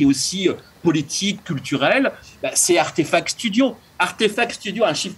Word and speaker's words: RTFKT: Alors, Donc, Eric, c'est très important ce que tu dis sur Artefact, effectivement, qui s'écrit d'ailleurs RTFKT, mais qui se prononce Artefact.